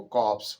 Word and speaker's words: corpse: फिर dead body, dead body के लिए वर्ड आया है कॉप्स, CORPSE, इसका प्रोनाउंसिएशन, इसका उच्चारण जो है वो कॉप्स होगा।